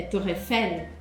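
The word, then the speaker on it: Tour Eiffel: La torre não é torre, é torrefel.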